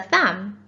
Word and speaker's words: thumb: letter for thumb is because i've just told you it has a silent b at the end but what about lamb